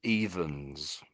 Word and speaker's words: evens: So this top one is evens.